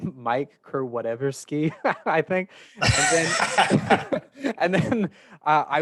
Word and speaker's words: Kurkowski: my name Kurkowski, and he's like, "Oh, it's Kurkowski."